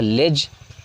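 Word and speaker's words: ledge: इसके बाद है लेज. इसमें डी साइलेंट होते हैं.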